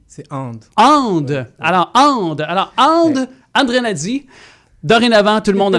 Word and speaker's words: Andrianady: Alors, André Nadi. Dorénavant, tout le monde dans la communauté, vous allez dire André Nadi. C'est réglé parce que dans ta langue malgache, c'est comme ça que ça se prononce.